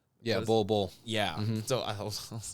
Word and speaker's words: Bol: Yeah, and much like the Suns right now, especially after they signed Bol? Yeah, Bull. Yeah. So I was like, did I pronounce that wrong?